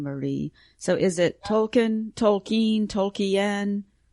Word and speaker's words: Tolkien: part of the reason I joined too, is I just wanted to be around other people who love Tolkien as much as I did.